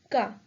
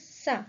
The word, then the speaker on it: ça: If we remove the accent, the pronunciation would be ca. Again, what is ka? No one knows. So the pronunciation is sa, which means this.